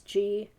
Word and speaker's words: Gouge: So the first one is, I don't know if you pronounce his name, Gouge. It's Gouge.